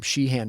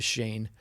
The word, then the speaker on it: Sheehan: And he said, as soon as he corrected how you were pronouncing his name from Sheehan to Shane, it looks like Sheehan.